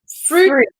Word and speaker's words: fruit: It's the same with the word fruit. Fruit needs to sound like a double O.